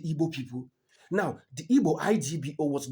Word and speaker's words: Igbo: Now, the Igbo, I G B O, was not easy for them to pronounce.